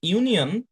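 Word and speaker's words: union: কিন্তু যখন আমি বলছি ইউনিয়ন, যখন আমি বলছি ইউনিভার্সিটি, তখন এখানে কিন্তু দুইটা সাউন্ড চলে আসছে, ই আর উ, তাই না?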